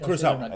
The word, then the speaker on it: Kurosawa: I think most people may not be aware, but Samurai 7 is based around Akira Kurosawa's... Did I say his name right? Kurosawa.